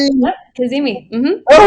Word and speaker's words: Kazemi: And our guest today is how do you pronounce it? Kazemi? Yep. Kazemi. Mm-hmm. Oh, all right, Kazemi.